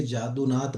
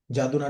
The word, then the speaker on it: यदुनाथ: के गुरु थे वो, जादूनाथ भट्टाचार्य। ठीक है, उनको यदुनाथ भट्टाचार्य भी कहते हैं, क्योंकि आप बांग्ला में पढ़ोगे तो यदु प्रोनाउंस होगा, नॉर्मली पढ़ोगे तो जादू, जो है जैसे जादूनाथ